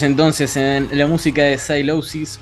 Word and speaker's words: Sylosis: ¿Se pronuncia así? Por supuesto, sí, Sylosis, que por cierto es una palabra que no